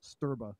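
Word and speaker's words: Strba: the end so yeah no it's pronounced sterba that's how we pronounce it okay and it comes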